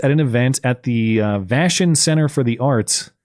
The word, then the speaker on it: Vashon: on April 8th at an event at the Vashon Center for the Arts. How do I pronounce that, Seattle City? Is it Vashon?